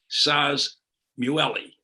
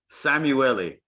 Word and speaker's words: Szamuely: I mean, the thing to remember it's Hungarian name, so the Z is silent. That's all. The Z is silent, so that you just have to ignore the Z.